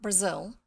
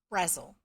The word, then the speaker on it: Brazil: tomboy by Angela Brazil even though it looks like Brazil apparently it was said pronounced Razzle I don't know uh